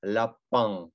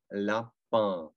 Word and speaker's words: lapin: Окей, lapin, lapin. Да, когда заканчивается на ин, это тоже третий звук. Улыбаемся, lapin, lapin.